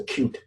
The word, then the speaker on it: Qt: Qt we pronounce a Qt.